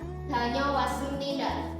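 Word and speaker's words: 다녀왔습니다: Itu dalam bahasa Korea danyo was습니다. Bisa diikuti setelah saya. Danyo was습니다. Tadi saya dengar dari ibu ada yang pelafalannya danyo was습니다. Itu bukan menggunakan kata G tapi menggunakan kata D.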